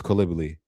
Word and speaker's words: Coulibaly: I'm pretty sure it's Coulibaly. It's the French pronunciation, but I'm going to double-check that.